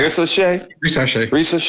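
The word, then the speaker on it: Risacher: Ricochet.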